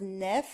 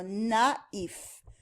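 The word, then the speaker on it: naïf: So if the was not there, you could pronounce it as nef. And we're going to see that in a different unit. But in this case, it separates the pronunciation of a and i.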